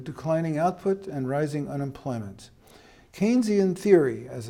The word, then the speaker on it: Keynesian: that leads to declining output and rising unemployment Keynesian theory as it's called it's not pronounced Kenny is pronounced Keynesian became part of mainstream economics after World War